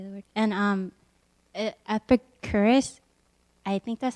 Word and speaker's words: Epicurus: Is that how you pronounce his name? Epicurus.